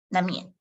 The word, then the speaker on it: 难免: So but when you when you pronounce them together, no need to pronounce the second N. 难免, because M has the N, the sound of N.